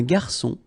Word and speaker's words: garçon: Remember when we get this cédille beneath the C, it will give you the pronunciation S of C. So instead of K, as it should be with O, okay? So, un garçon, un menu, une carte des vins, à la carte.